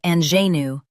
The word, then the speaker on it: ingenue: US says INGENUE, UK says INGENUE. Focus on the zh sound.